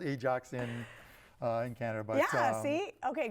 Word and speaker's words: Ajax: yeah vs Real Madrid Ajax I mean like the soap I mean that's how it smells yes it is and we have a city called Ajax in in Canada Boise